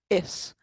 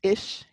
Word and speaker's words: is: And the exception is the word is, the verb is, which is one of the 11 irregular verbs in Irish. There's only 11, which is great. And is not pronounced ish.